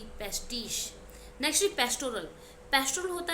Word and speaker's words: pastiche: Spelling क्या है? PASTICHE, पेस्टिश।